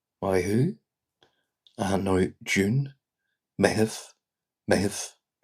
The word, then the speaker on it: Meitheamh: A night June, Meitheamh. Meitheamh. Meitheamh. Slowing that down like a May-heave.